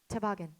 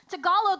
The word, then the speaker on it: Tagalog: Honey, it's pronounced toboggan. Okay, you're both wrong. It's pronounced Tagalog Galo Ding Dong.